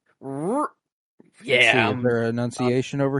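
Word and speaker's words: R'hllor: It's R''HLLOR. Roar.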